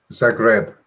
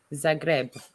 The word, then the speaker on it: Zagreb: Zagreb. Zagreb tomorrow afternoon.